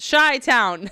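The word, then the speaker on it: Chi-Town: to that he really shy Town pronounced shy Town shy Town Julian is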